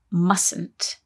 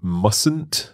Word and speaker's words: mustn't: though when we say mustn't there is a silent letter in there isn't there that's right you say mustn't not must that's right